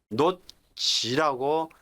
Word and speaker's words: 놓지: 그래서 히읗과 지읒이 부딪혀서 치읓, 격음, 이 강한 거센 발음이 나오죠. 그래서 이걸 뭐, 격음화 현상, 이라고 예전에 얘기했는데, 요즘에 아마 뭐 거센 소리 현상이라고 하나요? 어째 노치라고 쓰셔야지 되지.